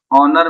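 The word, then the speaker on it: honour: ओनर में H silent है जिसके कारण हम लोग एन का प्रयोग किए।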